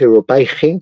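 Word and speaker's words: Europäische: revista que se llamaba Europaische Review en francés, Europaige, que es como se pronuncia en alemán, ¿no?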